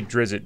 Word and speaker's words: Drizzt: It's unpronounceable. I say Drizzt because Drizzt is probably how I would say it.